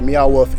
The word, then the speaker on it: Meow Wolf: museum in philly or meow wolf in new mexico yeah it's not neon wolf meow wolf wolf wolf there's